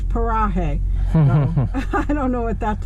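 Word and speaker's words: Paraje: but then when she pronounces it she says parahae i don't know what that's about so i have to say paraguay even though it's pronounced parahe p-a-r-a-j-e so anyway we're headed to new mexico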